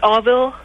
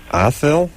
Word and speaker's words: Adil: So that the D is pronounced like a V? More like a TH sound, kind of. But yeah. Avil. Oh, like Athil? Yeah. Kind of.